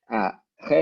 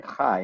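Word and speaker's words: חי: People say Chei as if it's a Chai, and then they say Ha'olamim.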